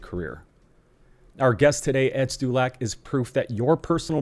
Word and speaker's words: Stulak: How do you pronounce your last name if you don't mind me asking? Ed Stulak.